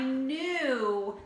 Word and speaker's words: knew: new like you like it has a ki silent K in the front of it I knew that you were coming to my house it's like knowledge right um not new as